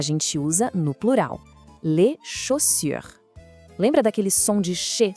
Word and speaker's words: chaussures: E outra dica importante, o S no final da palavra, no plural, a gente geralmente não pronuncia. Então não é chaussures, é só les chaussures.